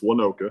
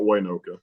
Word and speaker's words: Waynoka: are pronouncing it wrong the Y is silent okay it's oneoka not Waynoka so uh just giving